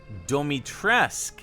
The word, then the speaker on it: Dimitrescu: short and long but if i personally took a stab at this word it would be dimitrescu almost like making it sound like rescue at the end now how did capcom pronounce it in game you will learn what it means to insult house dummy trask domi tresk interesting so if we check